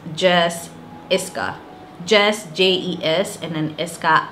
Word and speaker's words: Jes Iscah: I'm Jessica, known here as Jes Iscah. If you've ever wondered what Jes Iscah is, since we're in 2020, I'm going to explain it all over again. So the name is pronounced Jes Iscah.